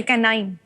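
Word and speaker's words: canine: लेकिन K9 को अगर आप प्रोनाउंस करेंगे सी ए एन आई एन ई होता है। केाइन माने कुत्ता। ठीक है सर। Okay कैनाइन।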